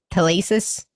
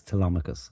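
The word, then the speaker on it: Telemachus: Tom Holland pay plays uh how would you pronounce his name? Tacis is it Tacis? It's Tamicus.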